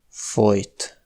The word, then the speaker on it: folyt: Et enfin, LY représentait historiquement un son comme [ʎ], mais aujourd’hui il se prononce exactement comme la lettre J : [j]. Les mots fojt (étouffer) et folyt (a coulé) s’écrivent différemment mais sont des homophones.